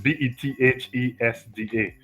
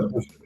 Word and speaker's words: Bethesda: Probably your pronunciation might be better than mine. So it's Bethesda, Methodist Church. Bethesda, Bethesda. Bethesda.